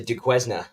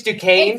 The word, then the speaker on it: Duquesne: Yeah, to Duquesne. I don't even know how we got on the fact that I think it's Duquesne. It's Duquesne.